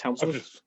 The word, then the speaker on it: Hemsworth: of helm's deep crimson am i saying his name wrong chris hemsworth hemsworth hemsworth yeah you're adding an l to it whatever chris hemsworth excuse